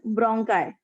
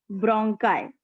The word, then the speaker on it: bronchi: It is called as bronchi. Bronchi.